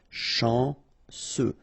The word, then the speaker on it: chanceux: Final X not pronounced. And then remember, C, E, U will give you this se sound. Chanceux.